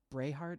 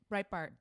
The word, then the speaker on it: Breitbart: Brayhart, is that how you pronounce it? His company. Steve Bannon had a publishing company that he sort of inherited or whatever. Breitbart.